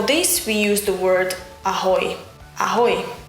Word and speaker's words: ahoj: And for this we use the word ahoj. Ahoj. Just like a sailor or a pirate would say.